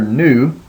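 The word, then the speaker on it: nu: to uh to that that is the letter new and it sounds just like the n in new so when you see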